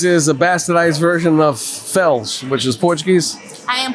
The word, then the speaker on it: Felix: they heard them and you don't you don't pronounce Felix Felix in Portuguese you pronounce it Fels well my last name